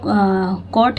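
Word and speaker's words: caught: अक्सर जी एच अगर टी के पहले आया हो तो साइलेंट होता है अगर लास्ट में है तो भी वो साइलेंट होता है ये ध्यान देने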